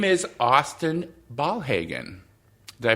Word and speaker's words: Ballhagen: Her name is Austin Ballhagen. Did I pronounce that correctly? You got it. Perfect. Ballhagen, yeah.